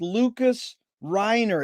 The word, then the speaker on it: Lucas Reiner: and a pleasure to be with here with lucas reiner is that the correct way to pronounce it lucas you did great jerry lucas